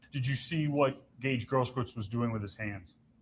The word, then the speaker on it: Grosskreutz: Grosskreutz.